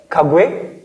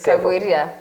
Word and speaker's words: Kagwiria: Kagweria, I pronounced it right? No. Kagwe? No, you didn't. Say it. Kagweria.